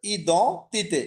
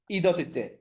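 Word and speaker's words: identité: আর normally ডিটা যদি না থাকতো তাহলে তো ই দ তিতে। ই এন এর উচ্চারণ আমি একটা কোন একটা ক্লাসে বলেছিলাম মনে হচ্ছে, এটার উচ্চারণটা হচ্ছে অ, স্বরে অ।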